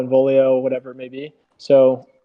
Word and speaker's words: Involio: Like when you first tell someone Involio, sometimes it's a little bit hard for them to then pronounce. Like we'll have people say Invelio, Involio, whatever it may be.